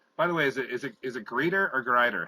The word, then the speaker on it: Grieder: Grieder. Grieder. Yes. Like death greets you? Grieder? Okay. Yes. I know the I before the E. I want to make sure I was pronouncing it right. And well, Andre in German it's Grieder. It's a long I, long E, I. In German it's an E.